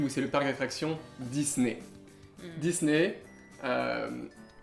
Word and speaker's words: Disney: c'est le parc d'attraction Disney Disney euh prononciation encore une fois très différente aux ÉtatsUnis qui est Disney Disney qu Mme il y a un Z au milieu et un I et on fait ça